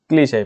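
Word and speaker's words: cliché: और क्लीशे बोल सकते हैं, ये इसका प्रोनाउंसिएशन जरूर देखना, ठीक है। क्लीश है, पहले से ही ओवररेटेड हो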